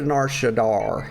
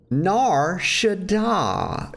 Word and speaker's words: Nar Shaddaa: combat we'll go to Nar Shadar here uh Shadar Shadai stop putting an R in it nar Shadai y'all it's very simple clearly it's easy to pronounce okay but all I